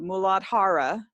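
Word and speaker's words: Muladhara: one is called well when I say it correctly here in Sanskrit the mooladhara and mula means root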